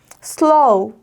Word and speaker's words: slow: 하지만 쓸 때 편하자고 이렇게 썼지만 발음이 슬로우로 정확하게 떨어지면 안 된다는 거 다시 한번 기억하셔야 돼요. slow, slow.